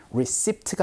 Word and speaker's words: receipt: receipt가 아닌 receipt 이렇게 발음되니까 이것도 같이 기억해 주시면서 연습 한번 해보도록 할까요?